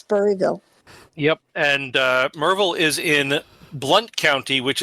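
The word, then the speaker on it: Maryville: I noticed that it's written mville but you pronounced it merville that's because that is how it's pronounced okay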